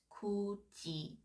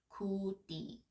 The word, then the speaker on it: 굳이: And note that the pronunciation is 굳이, not 굳이.